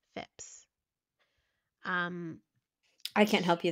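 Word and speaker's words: Phips: pleas of the village fips I believe that's how you say his name I wanted to say Phillips but I don't think it's Phillips it's p h i PS fips um I can't help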